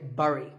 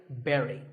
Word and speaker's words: bury: I used to say bury. I mean, it looks like that, right? But this word sounds just like the berry in strawberry. So once again, bury.